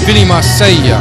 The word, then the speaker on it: Marseglia: Jim: That would be Marseglia. (Pronounced correctly, an Italian name) Jay: He's got a new look.